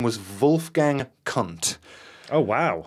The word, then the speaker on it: Kundt: His name was Wolfgang Kundt. Oh, wow. Right? Okay. and that is spelled K-U-N-D-T.